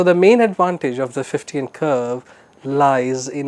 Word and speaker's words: Fichtean: c h t e a n but the pronunciation is 15 so the main advantage of the 15 curve lies in its ability to provide a